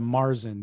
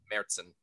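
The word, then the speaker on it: Märzen: beyonce i mean gideon when you go and order a marzin do you order a merson or a marzin i took too many years of german not to say mertzen see i've never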